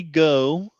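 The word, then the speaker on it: Ngo: Independent journalist Andy Go. No. Is it no? Yeah. Okay. Like James Gwynn. The G with is the N silent. in the front. Gotcha. The G is silent.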